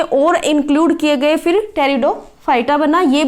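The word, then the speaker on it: Pteridophyta: इसको भी हिंदी में टेरिडोफाइटा बोला जाता है इसमें जो स्पीड है वह क्या होता है साइलेंट होता है इसलिए इसको टेरिडोफाइटा बोला जाता है टेरिडोफाइटा है वह ड्राइव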